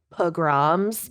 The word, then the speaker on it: pogrom: But it's pogrom. Okay. So It's pronounced program.